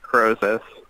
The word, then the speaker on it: Krosis: your name and so the name is pronounced Crozier okay I got you